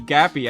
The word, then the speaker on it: Gappy: because it increases your generation and after doing damage that you can just max out Cappy, not Cappy, Gappy, I think I pronounced him wrong, as fast as possible.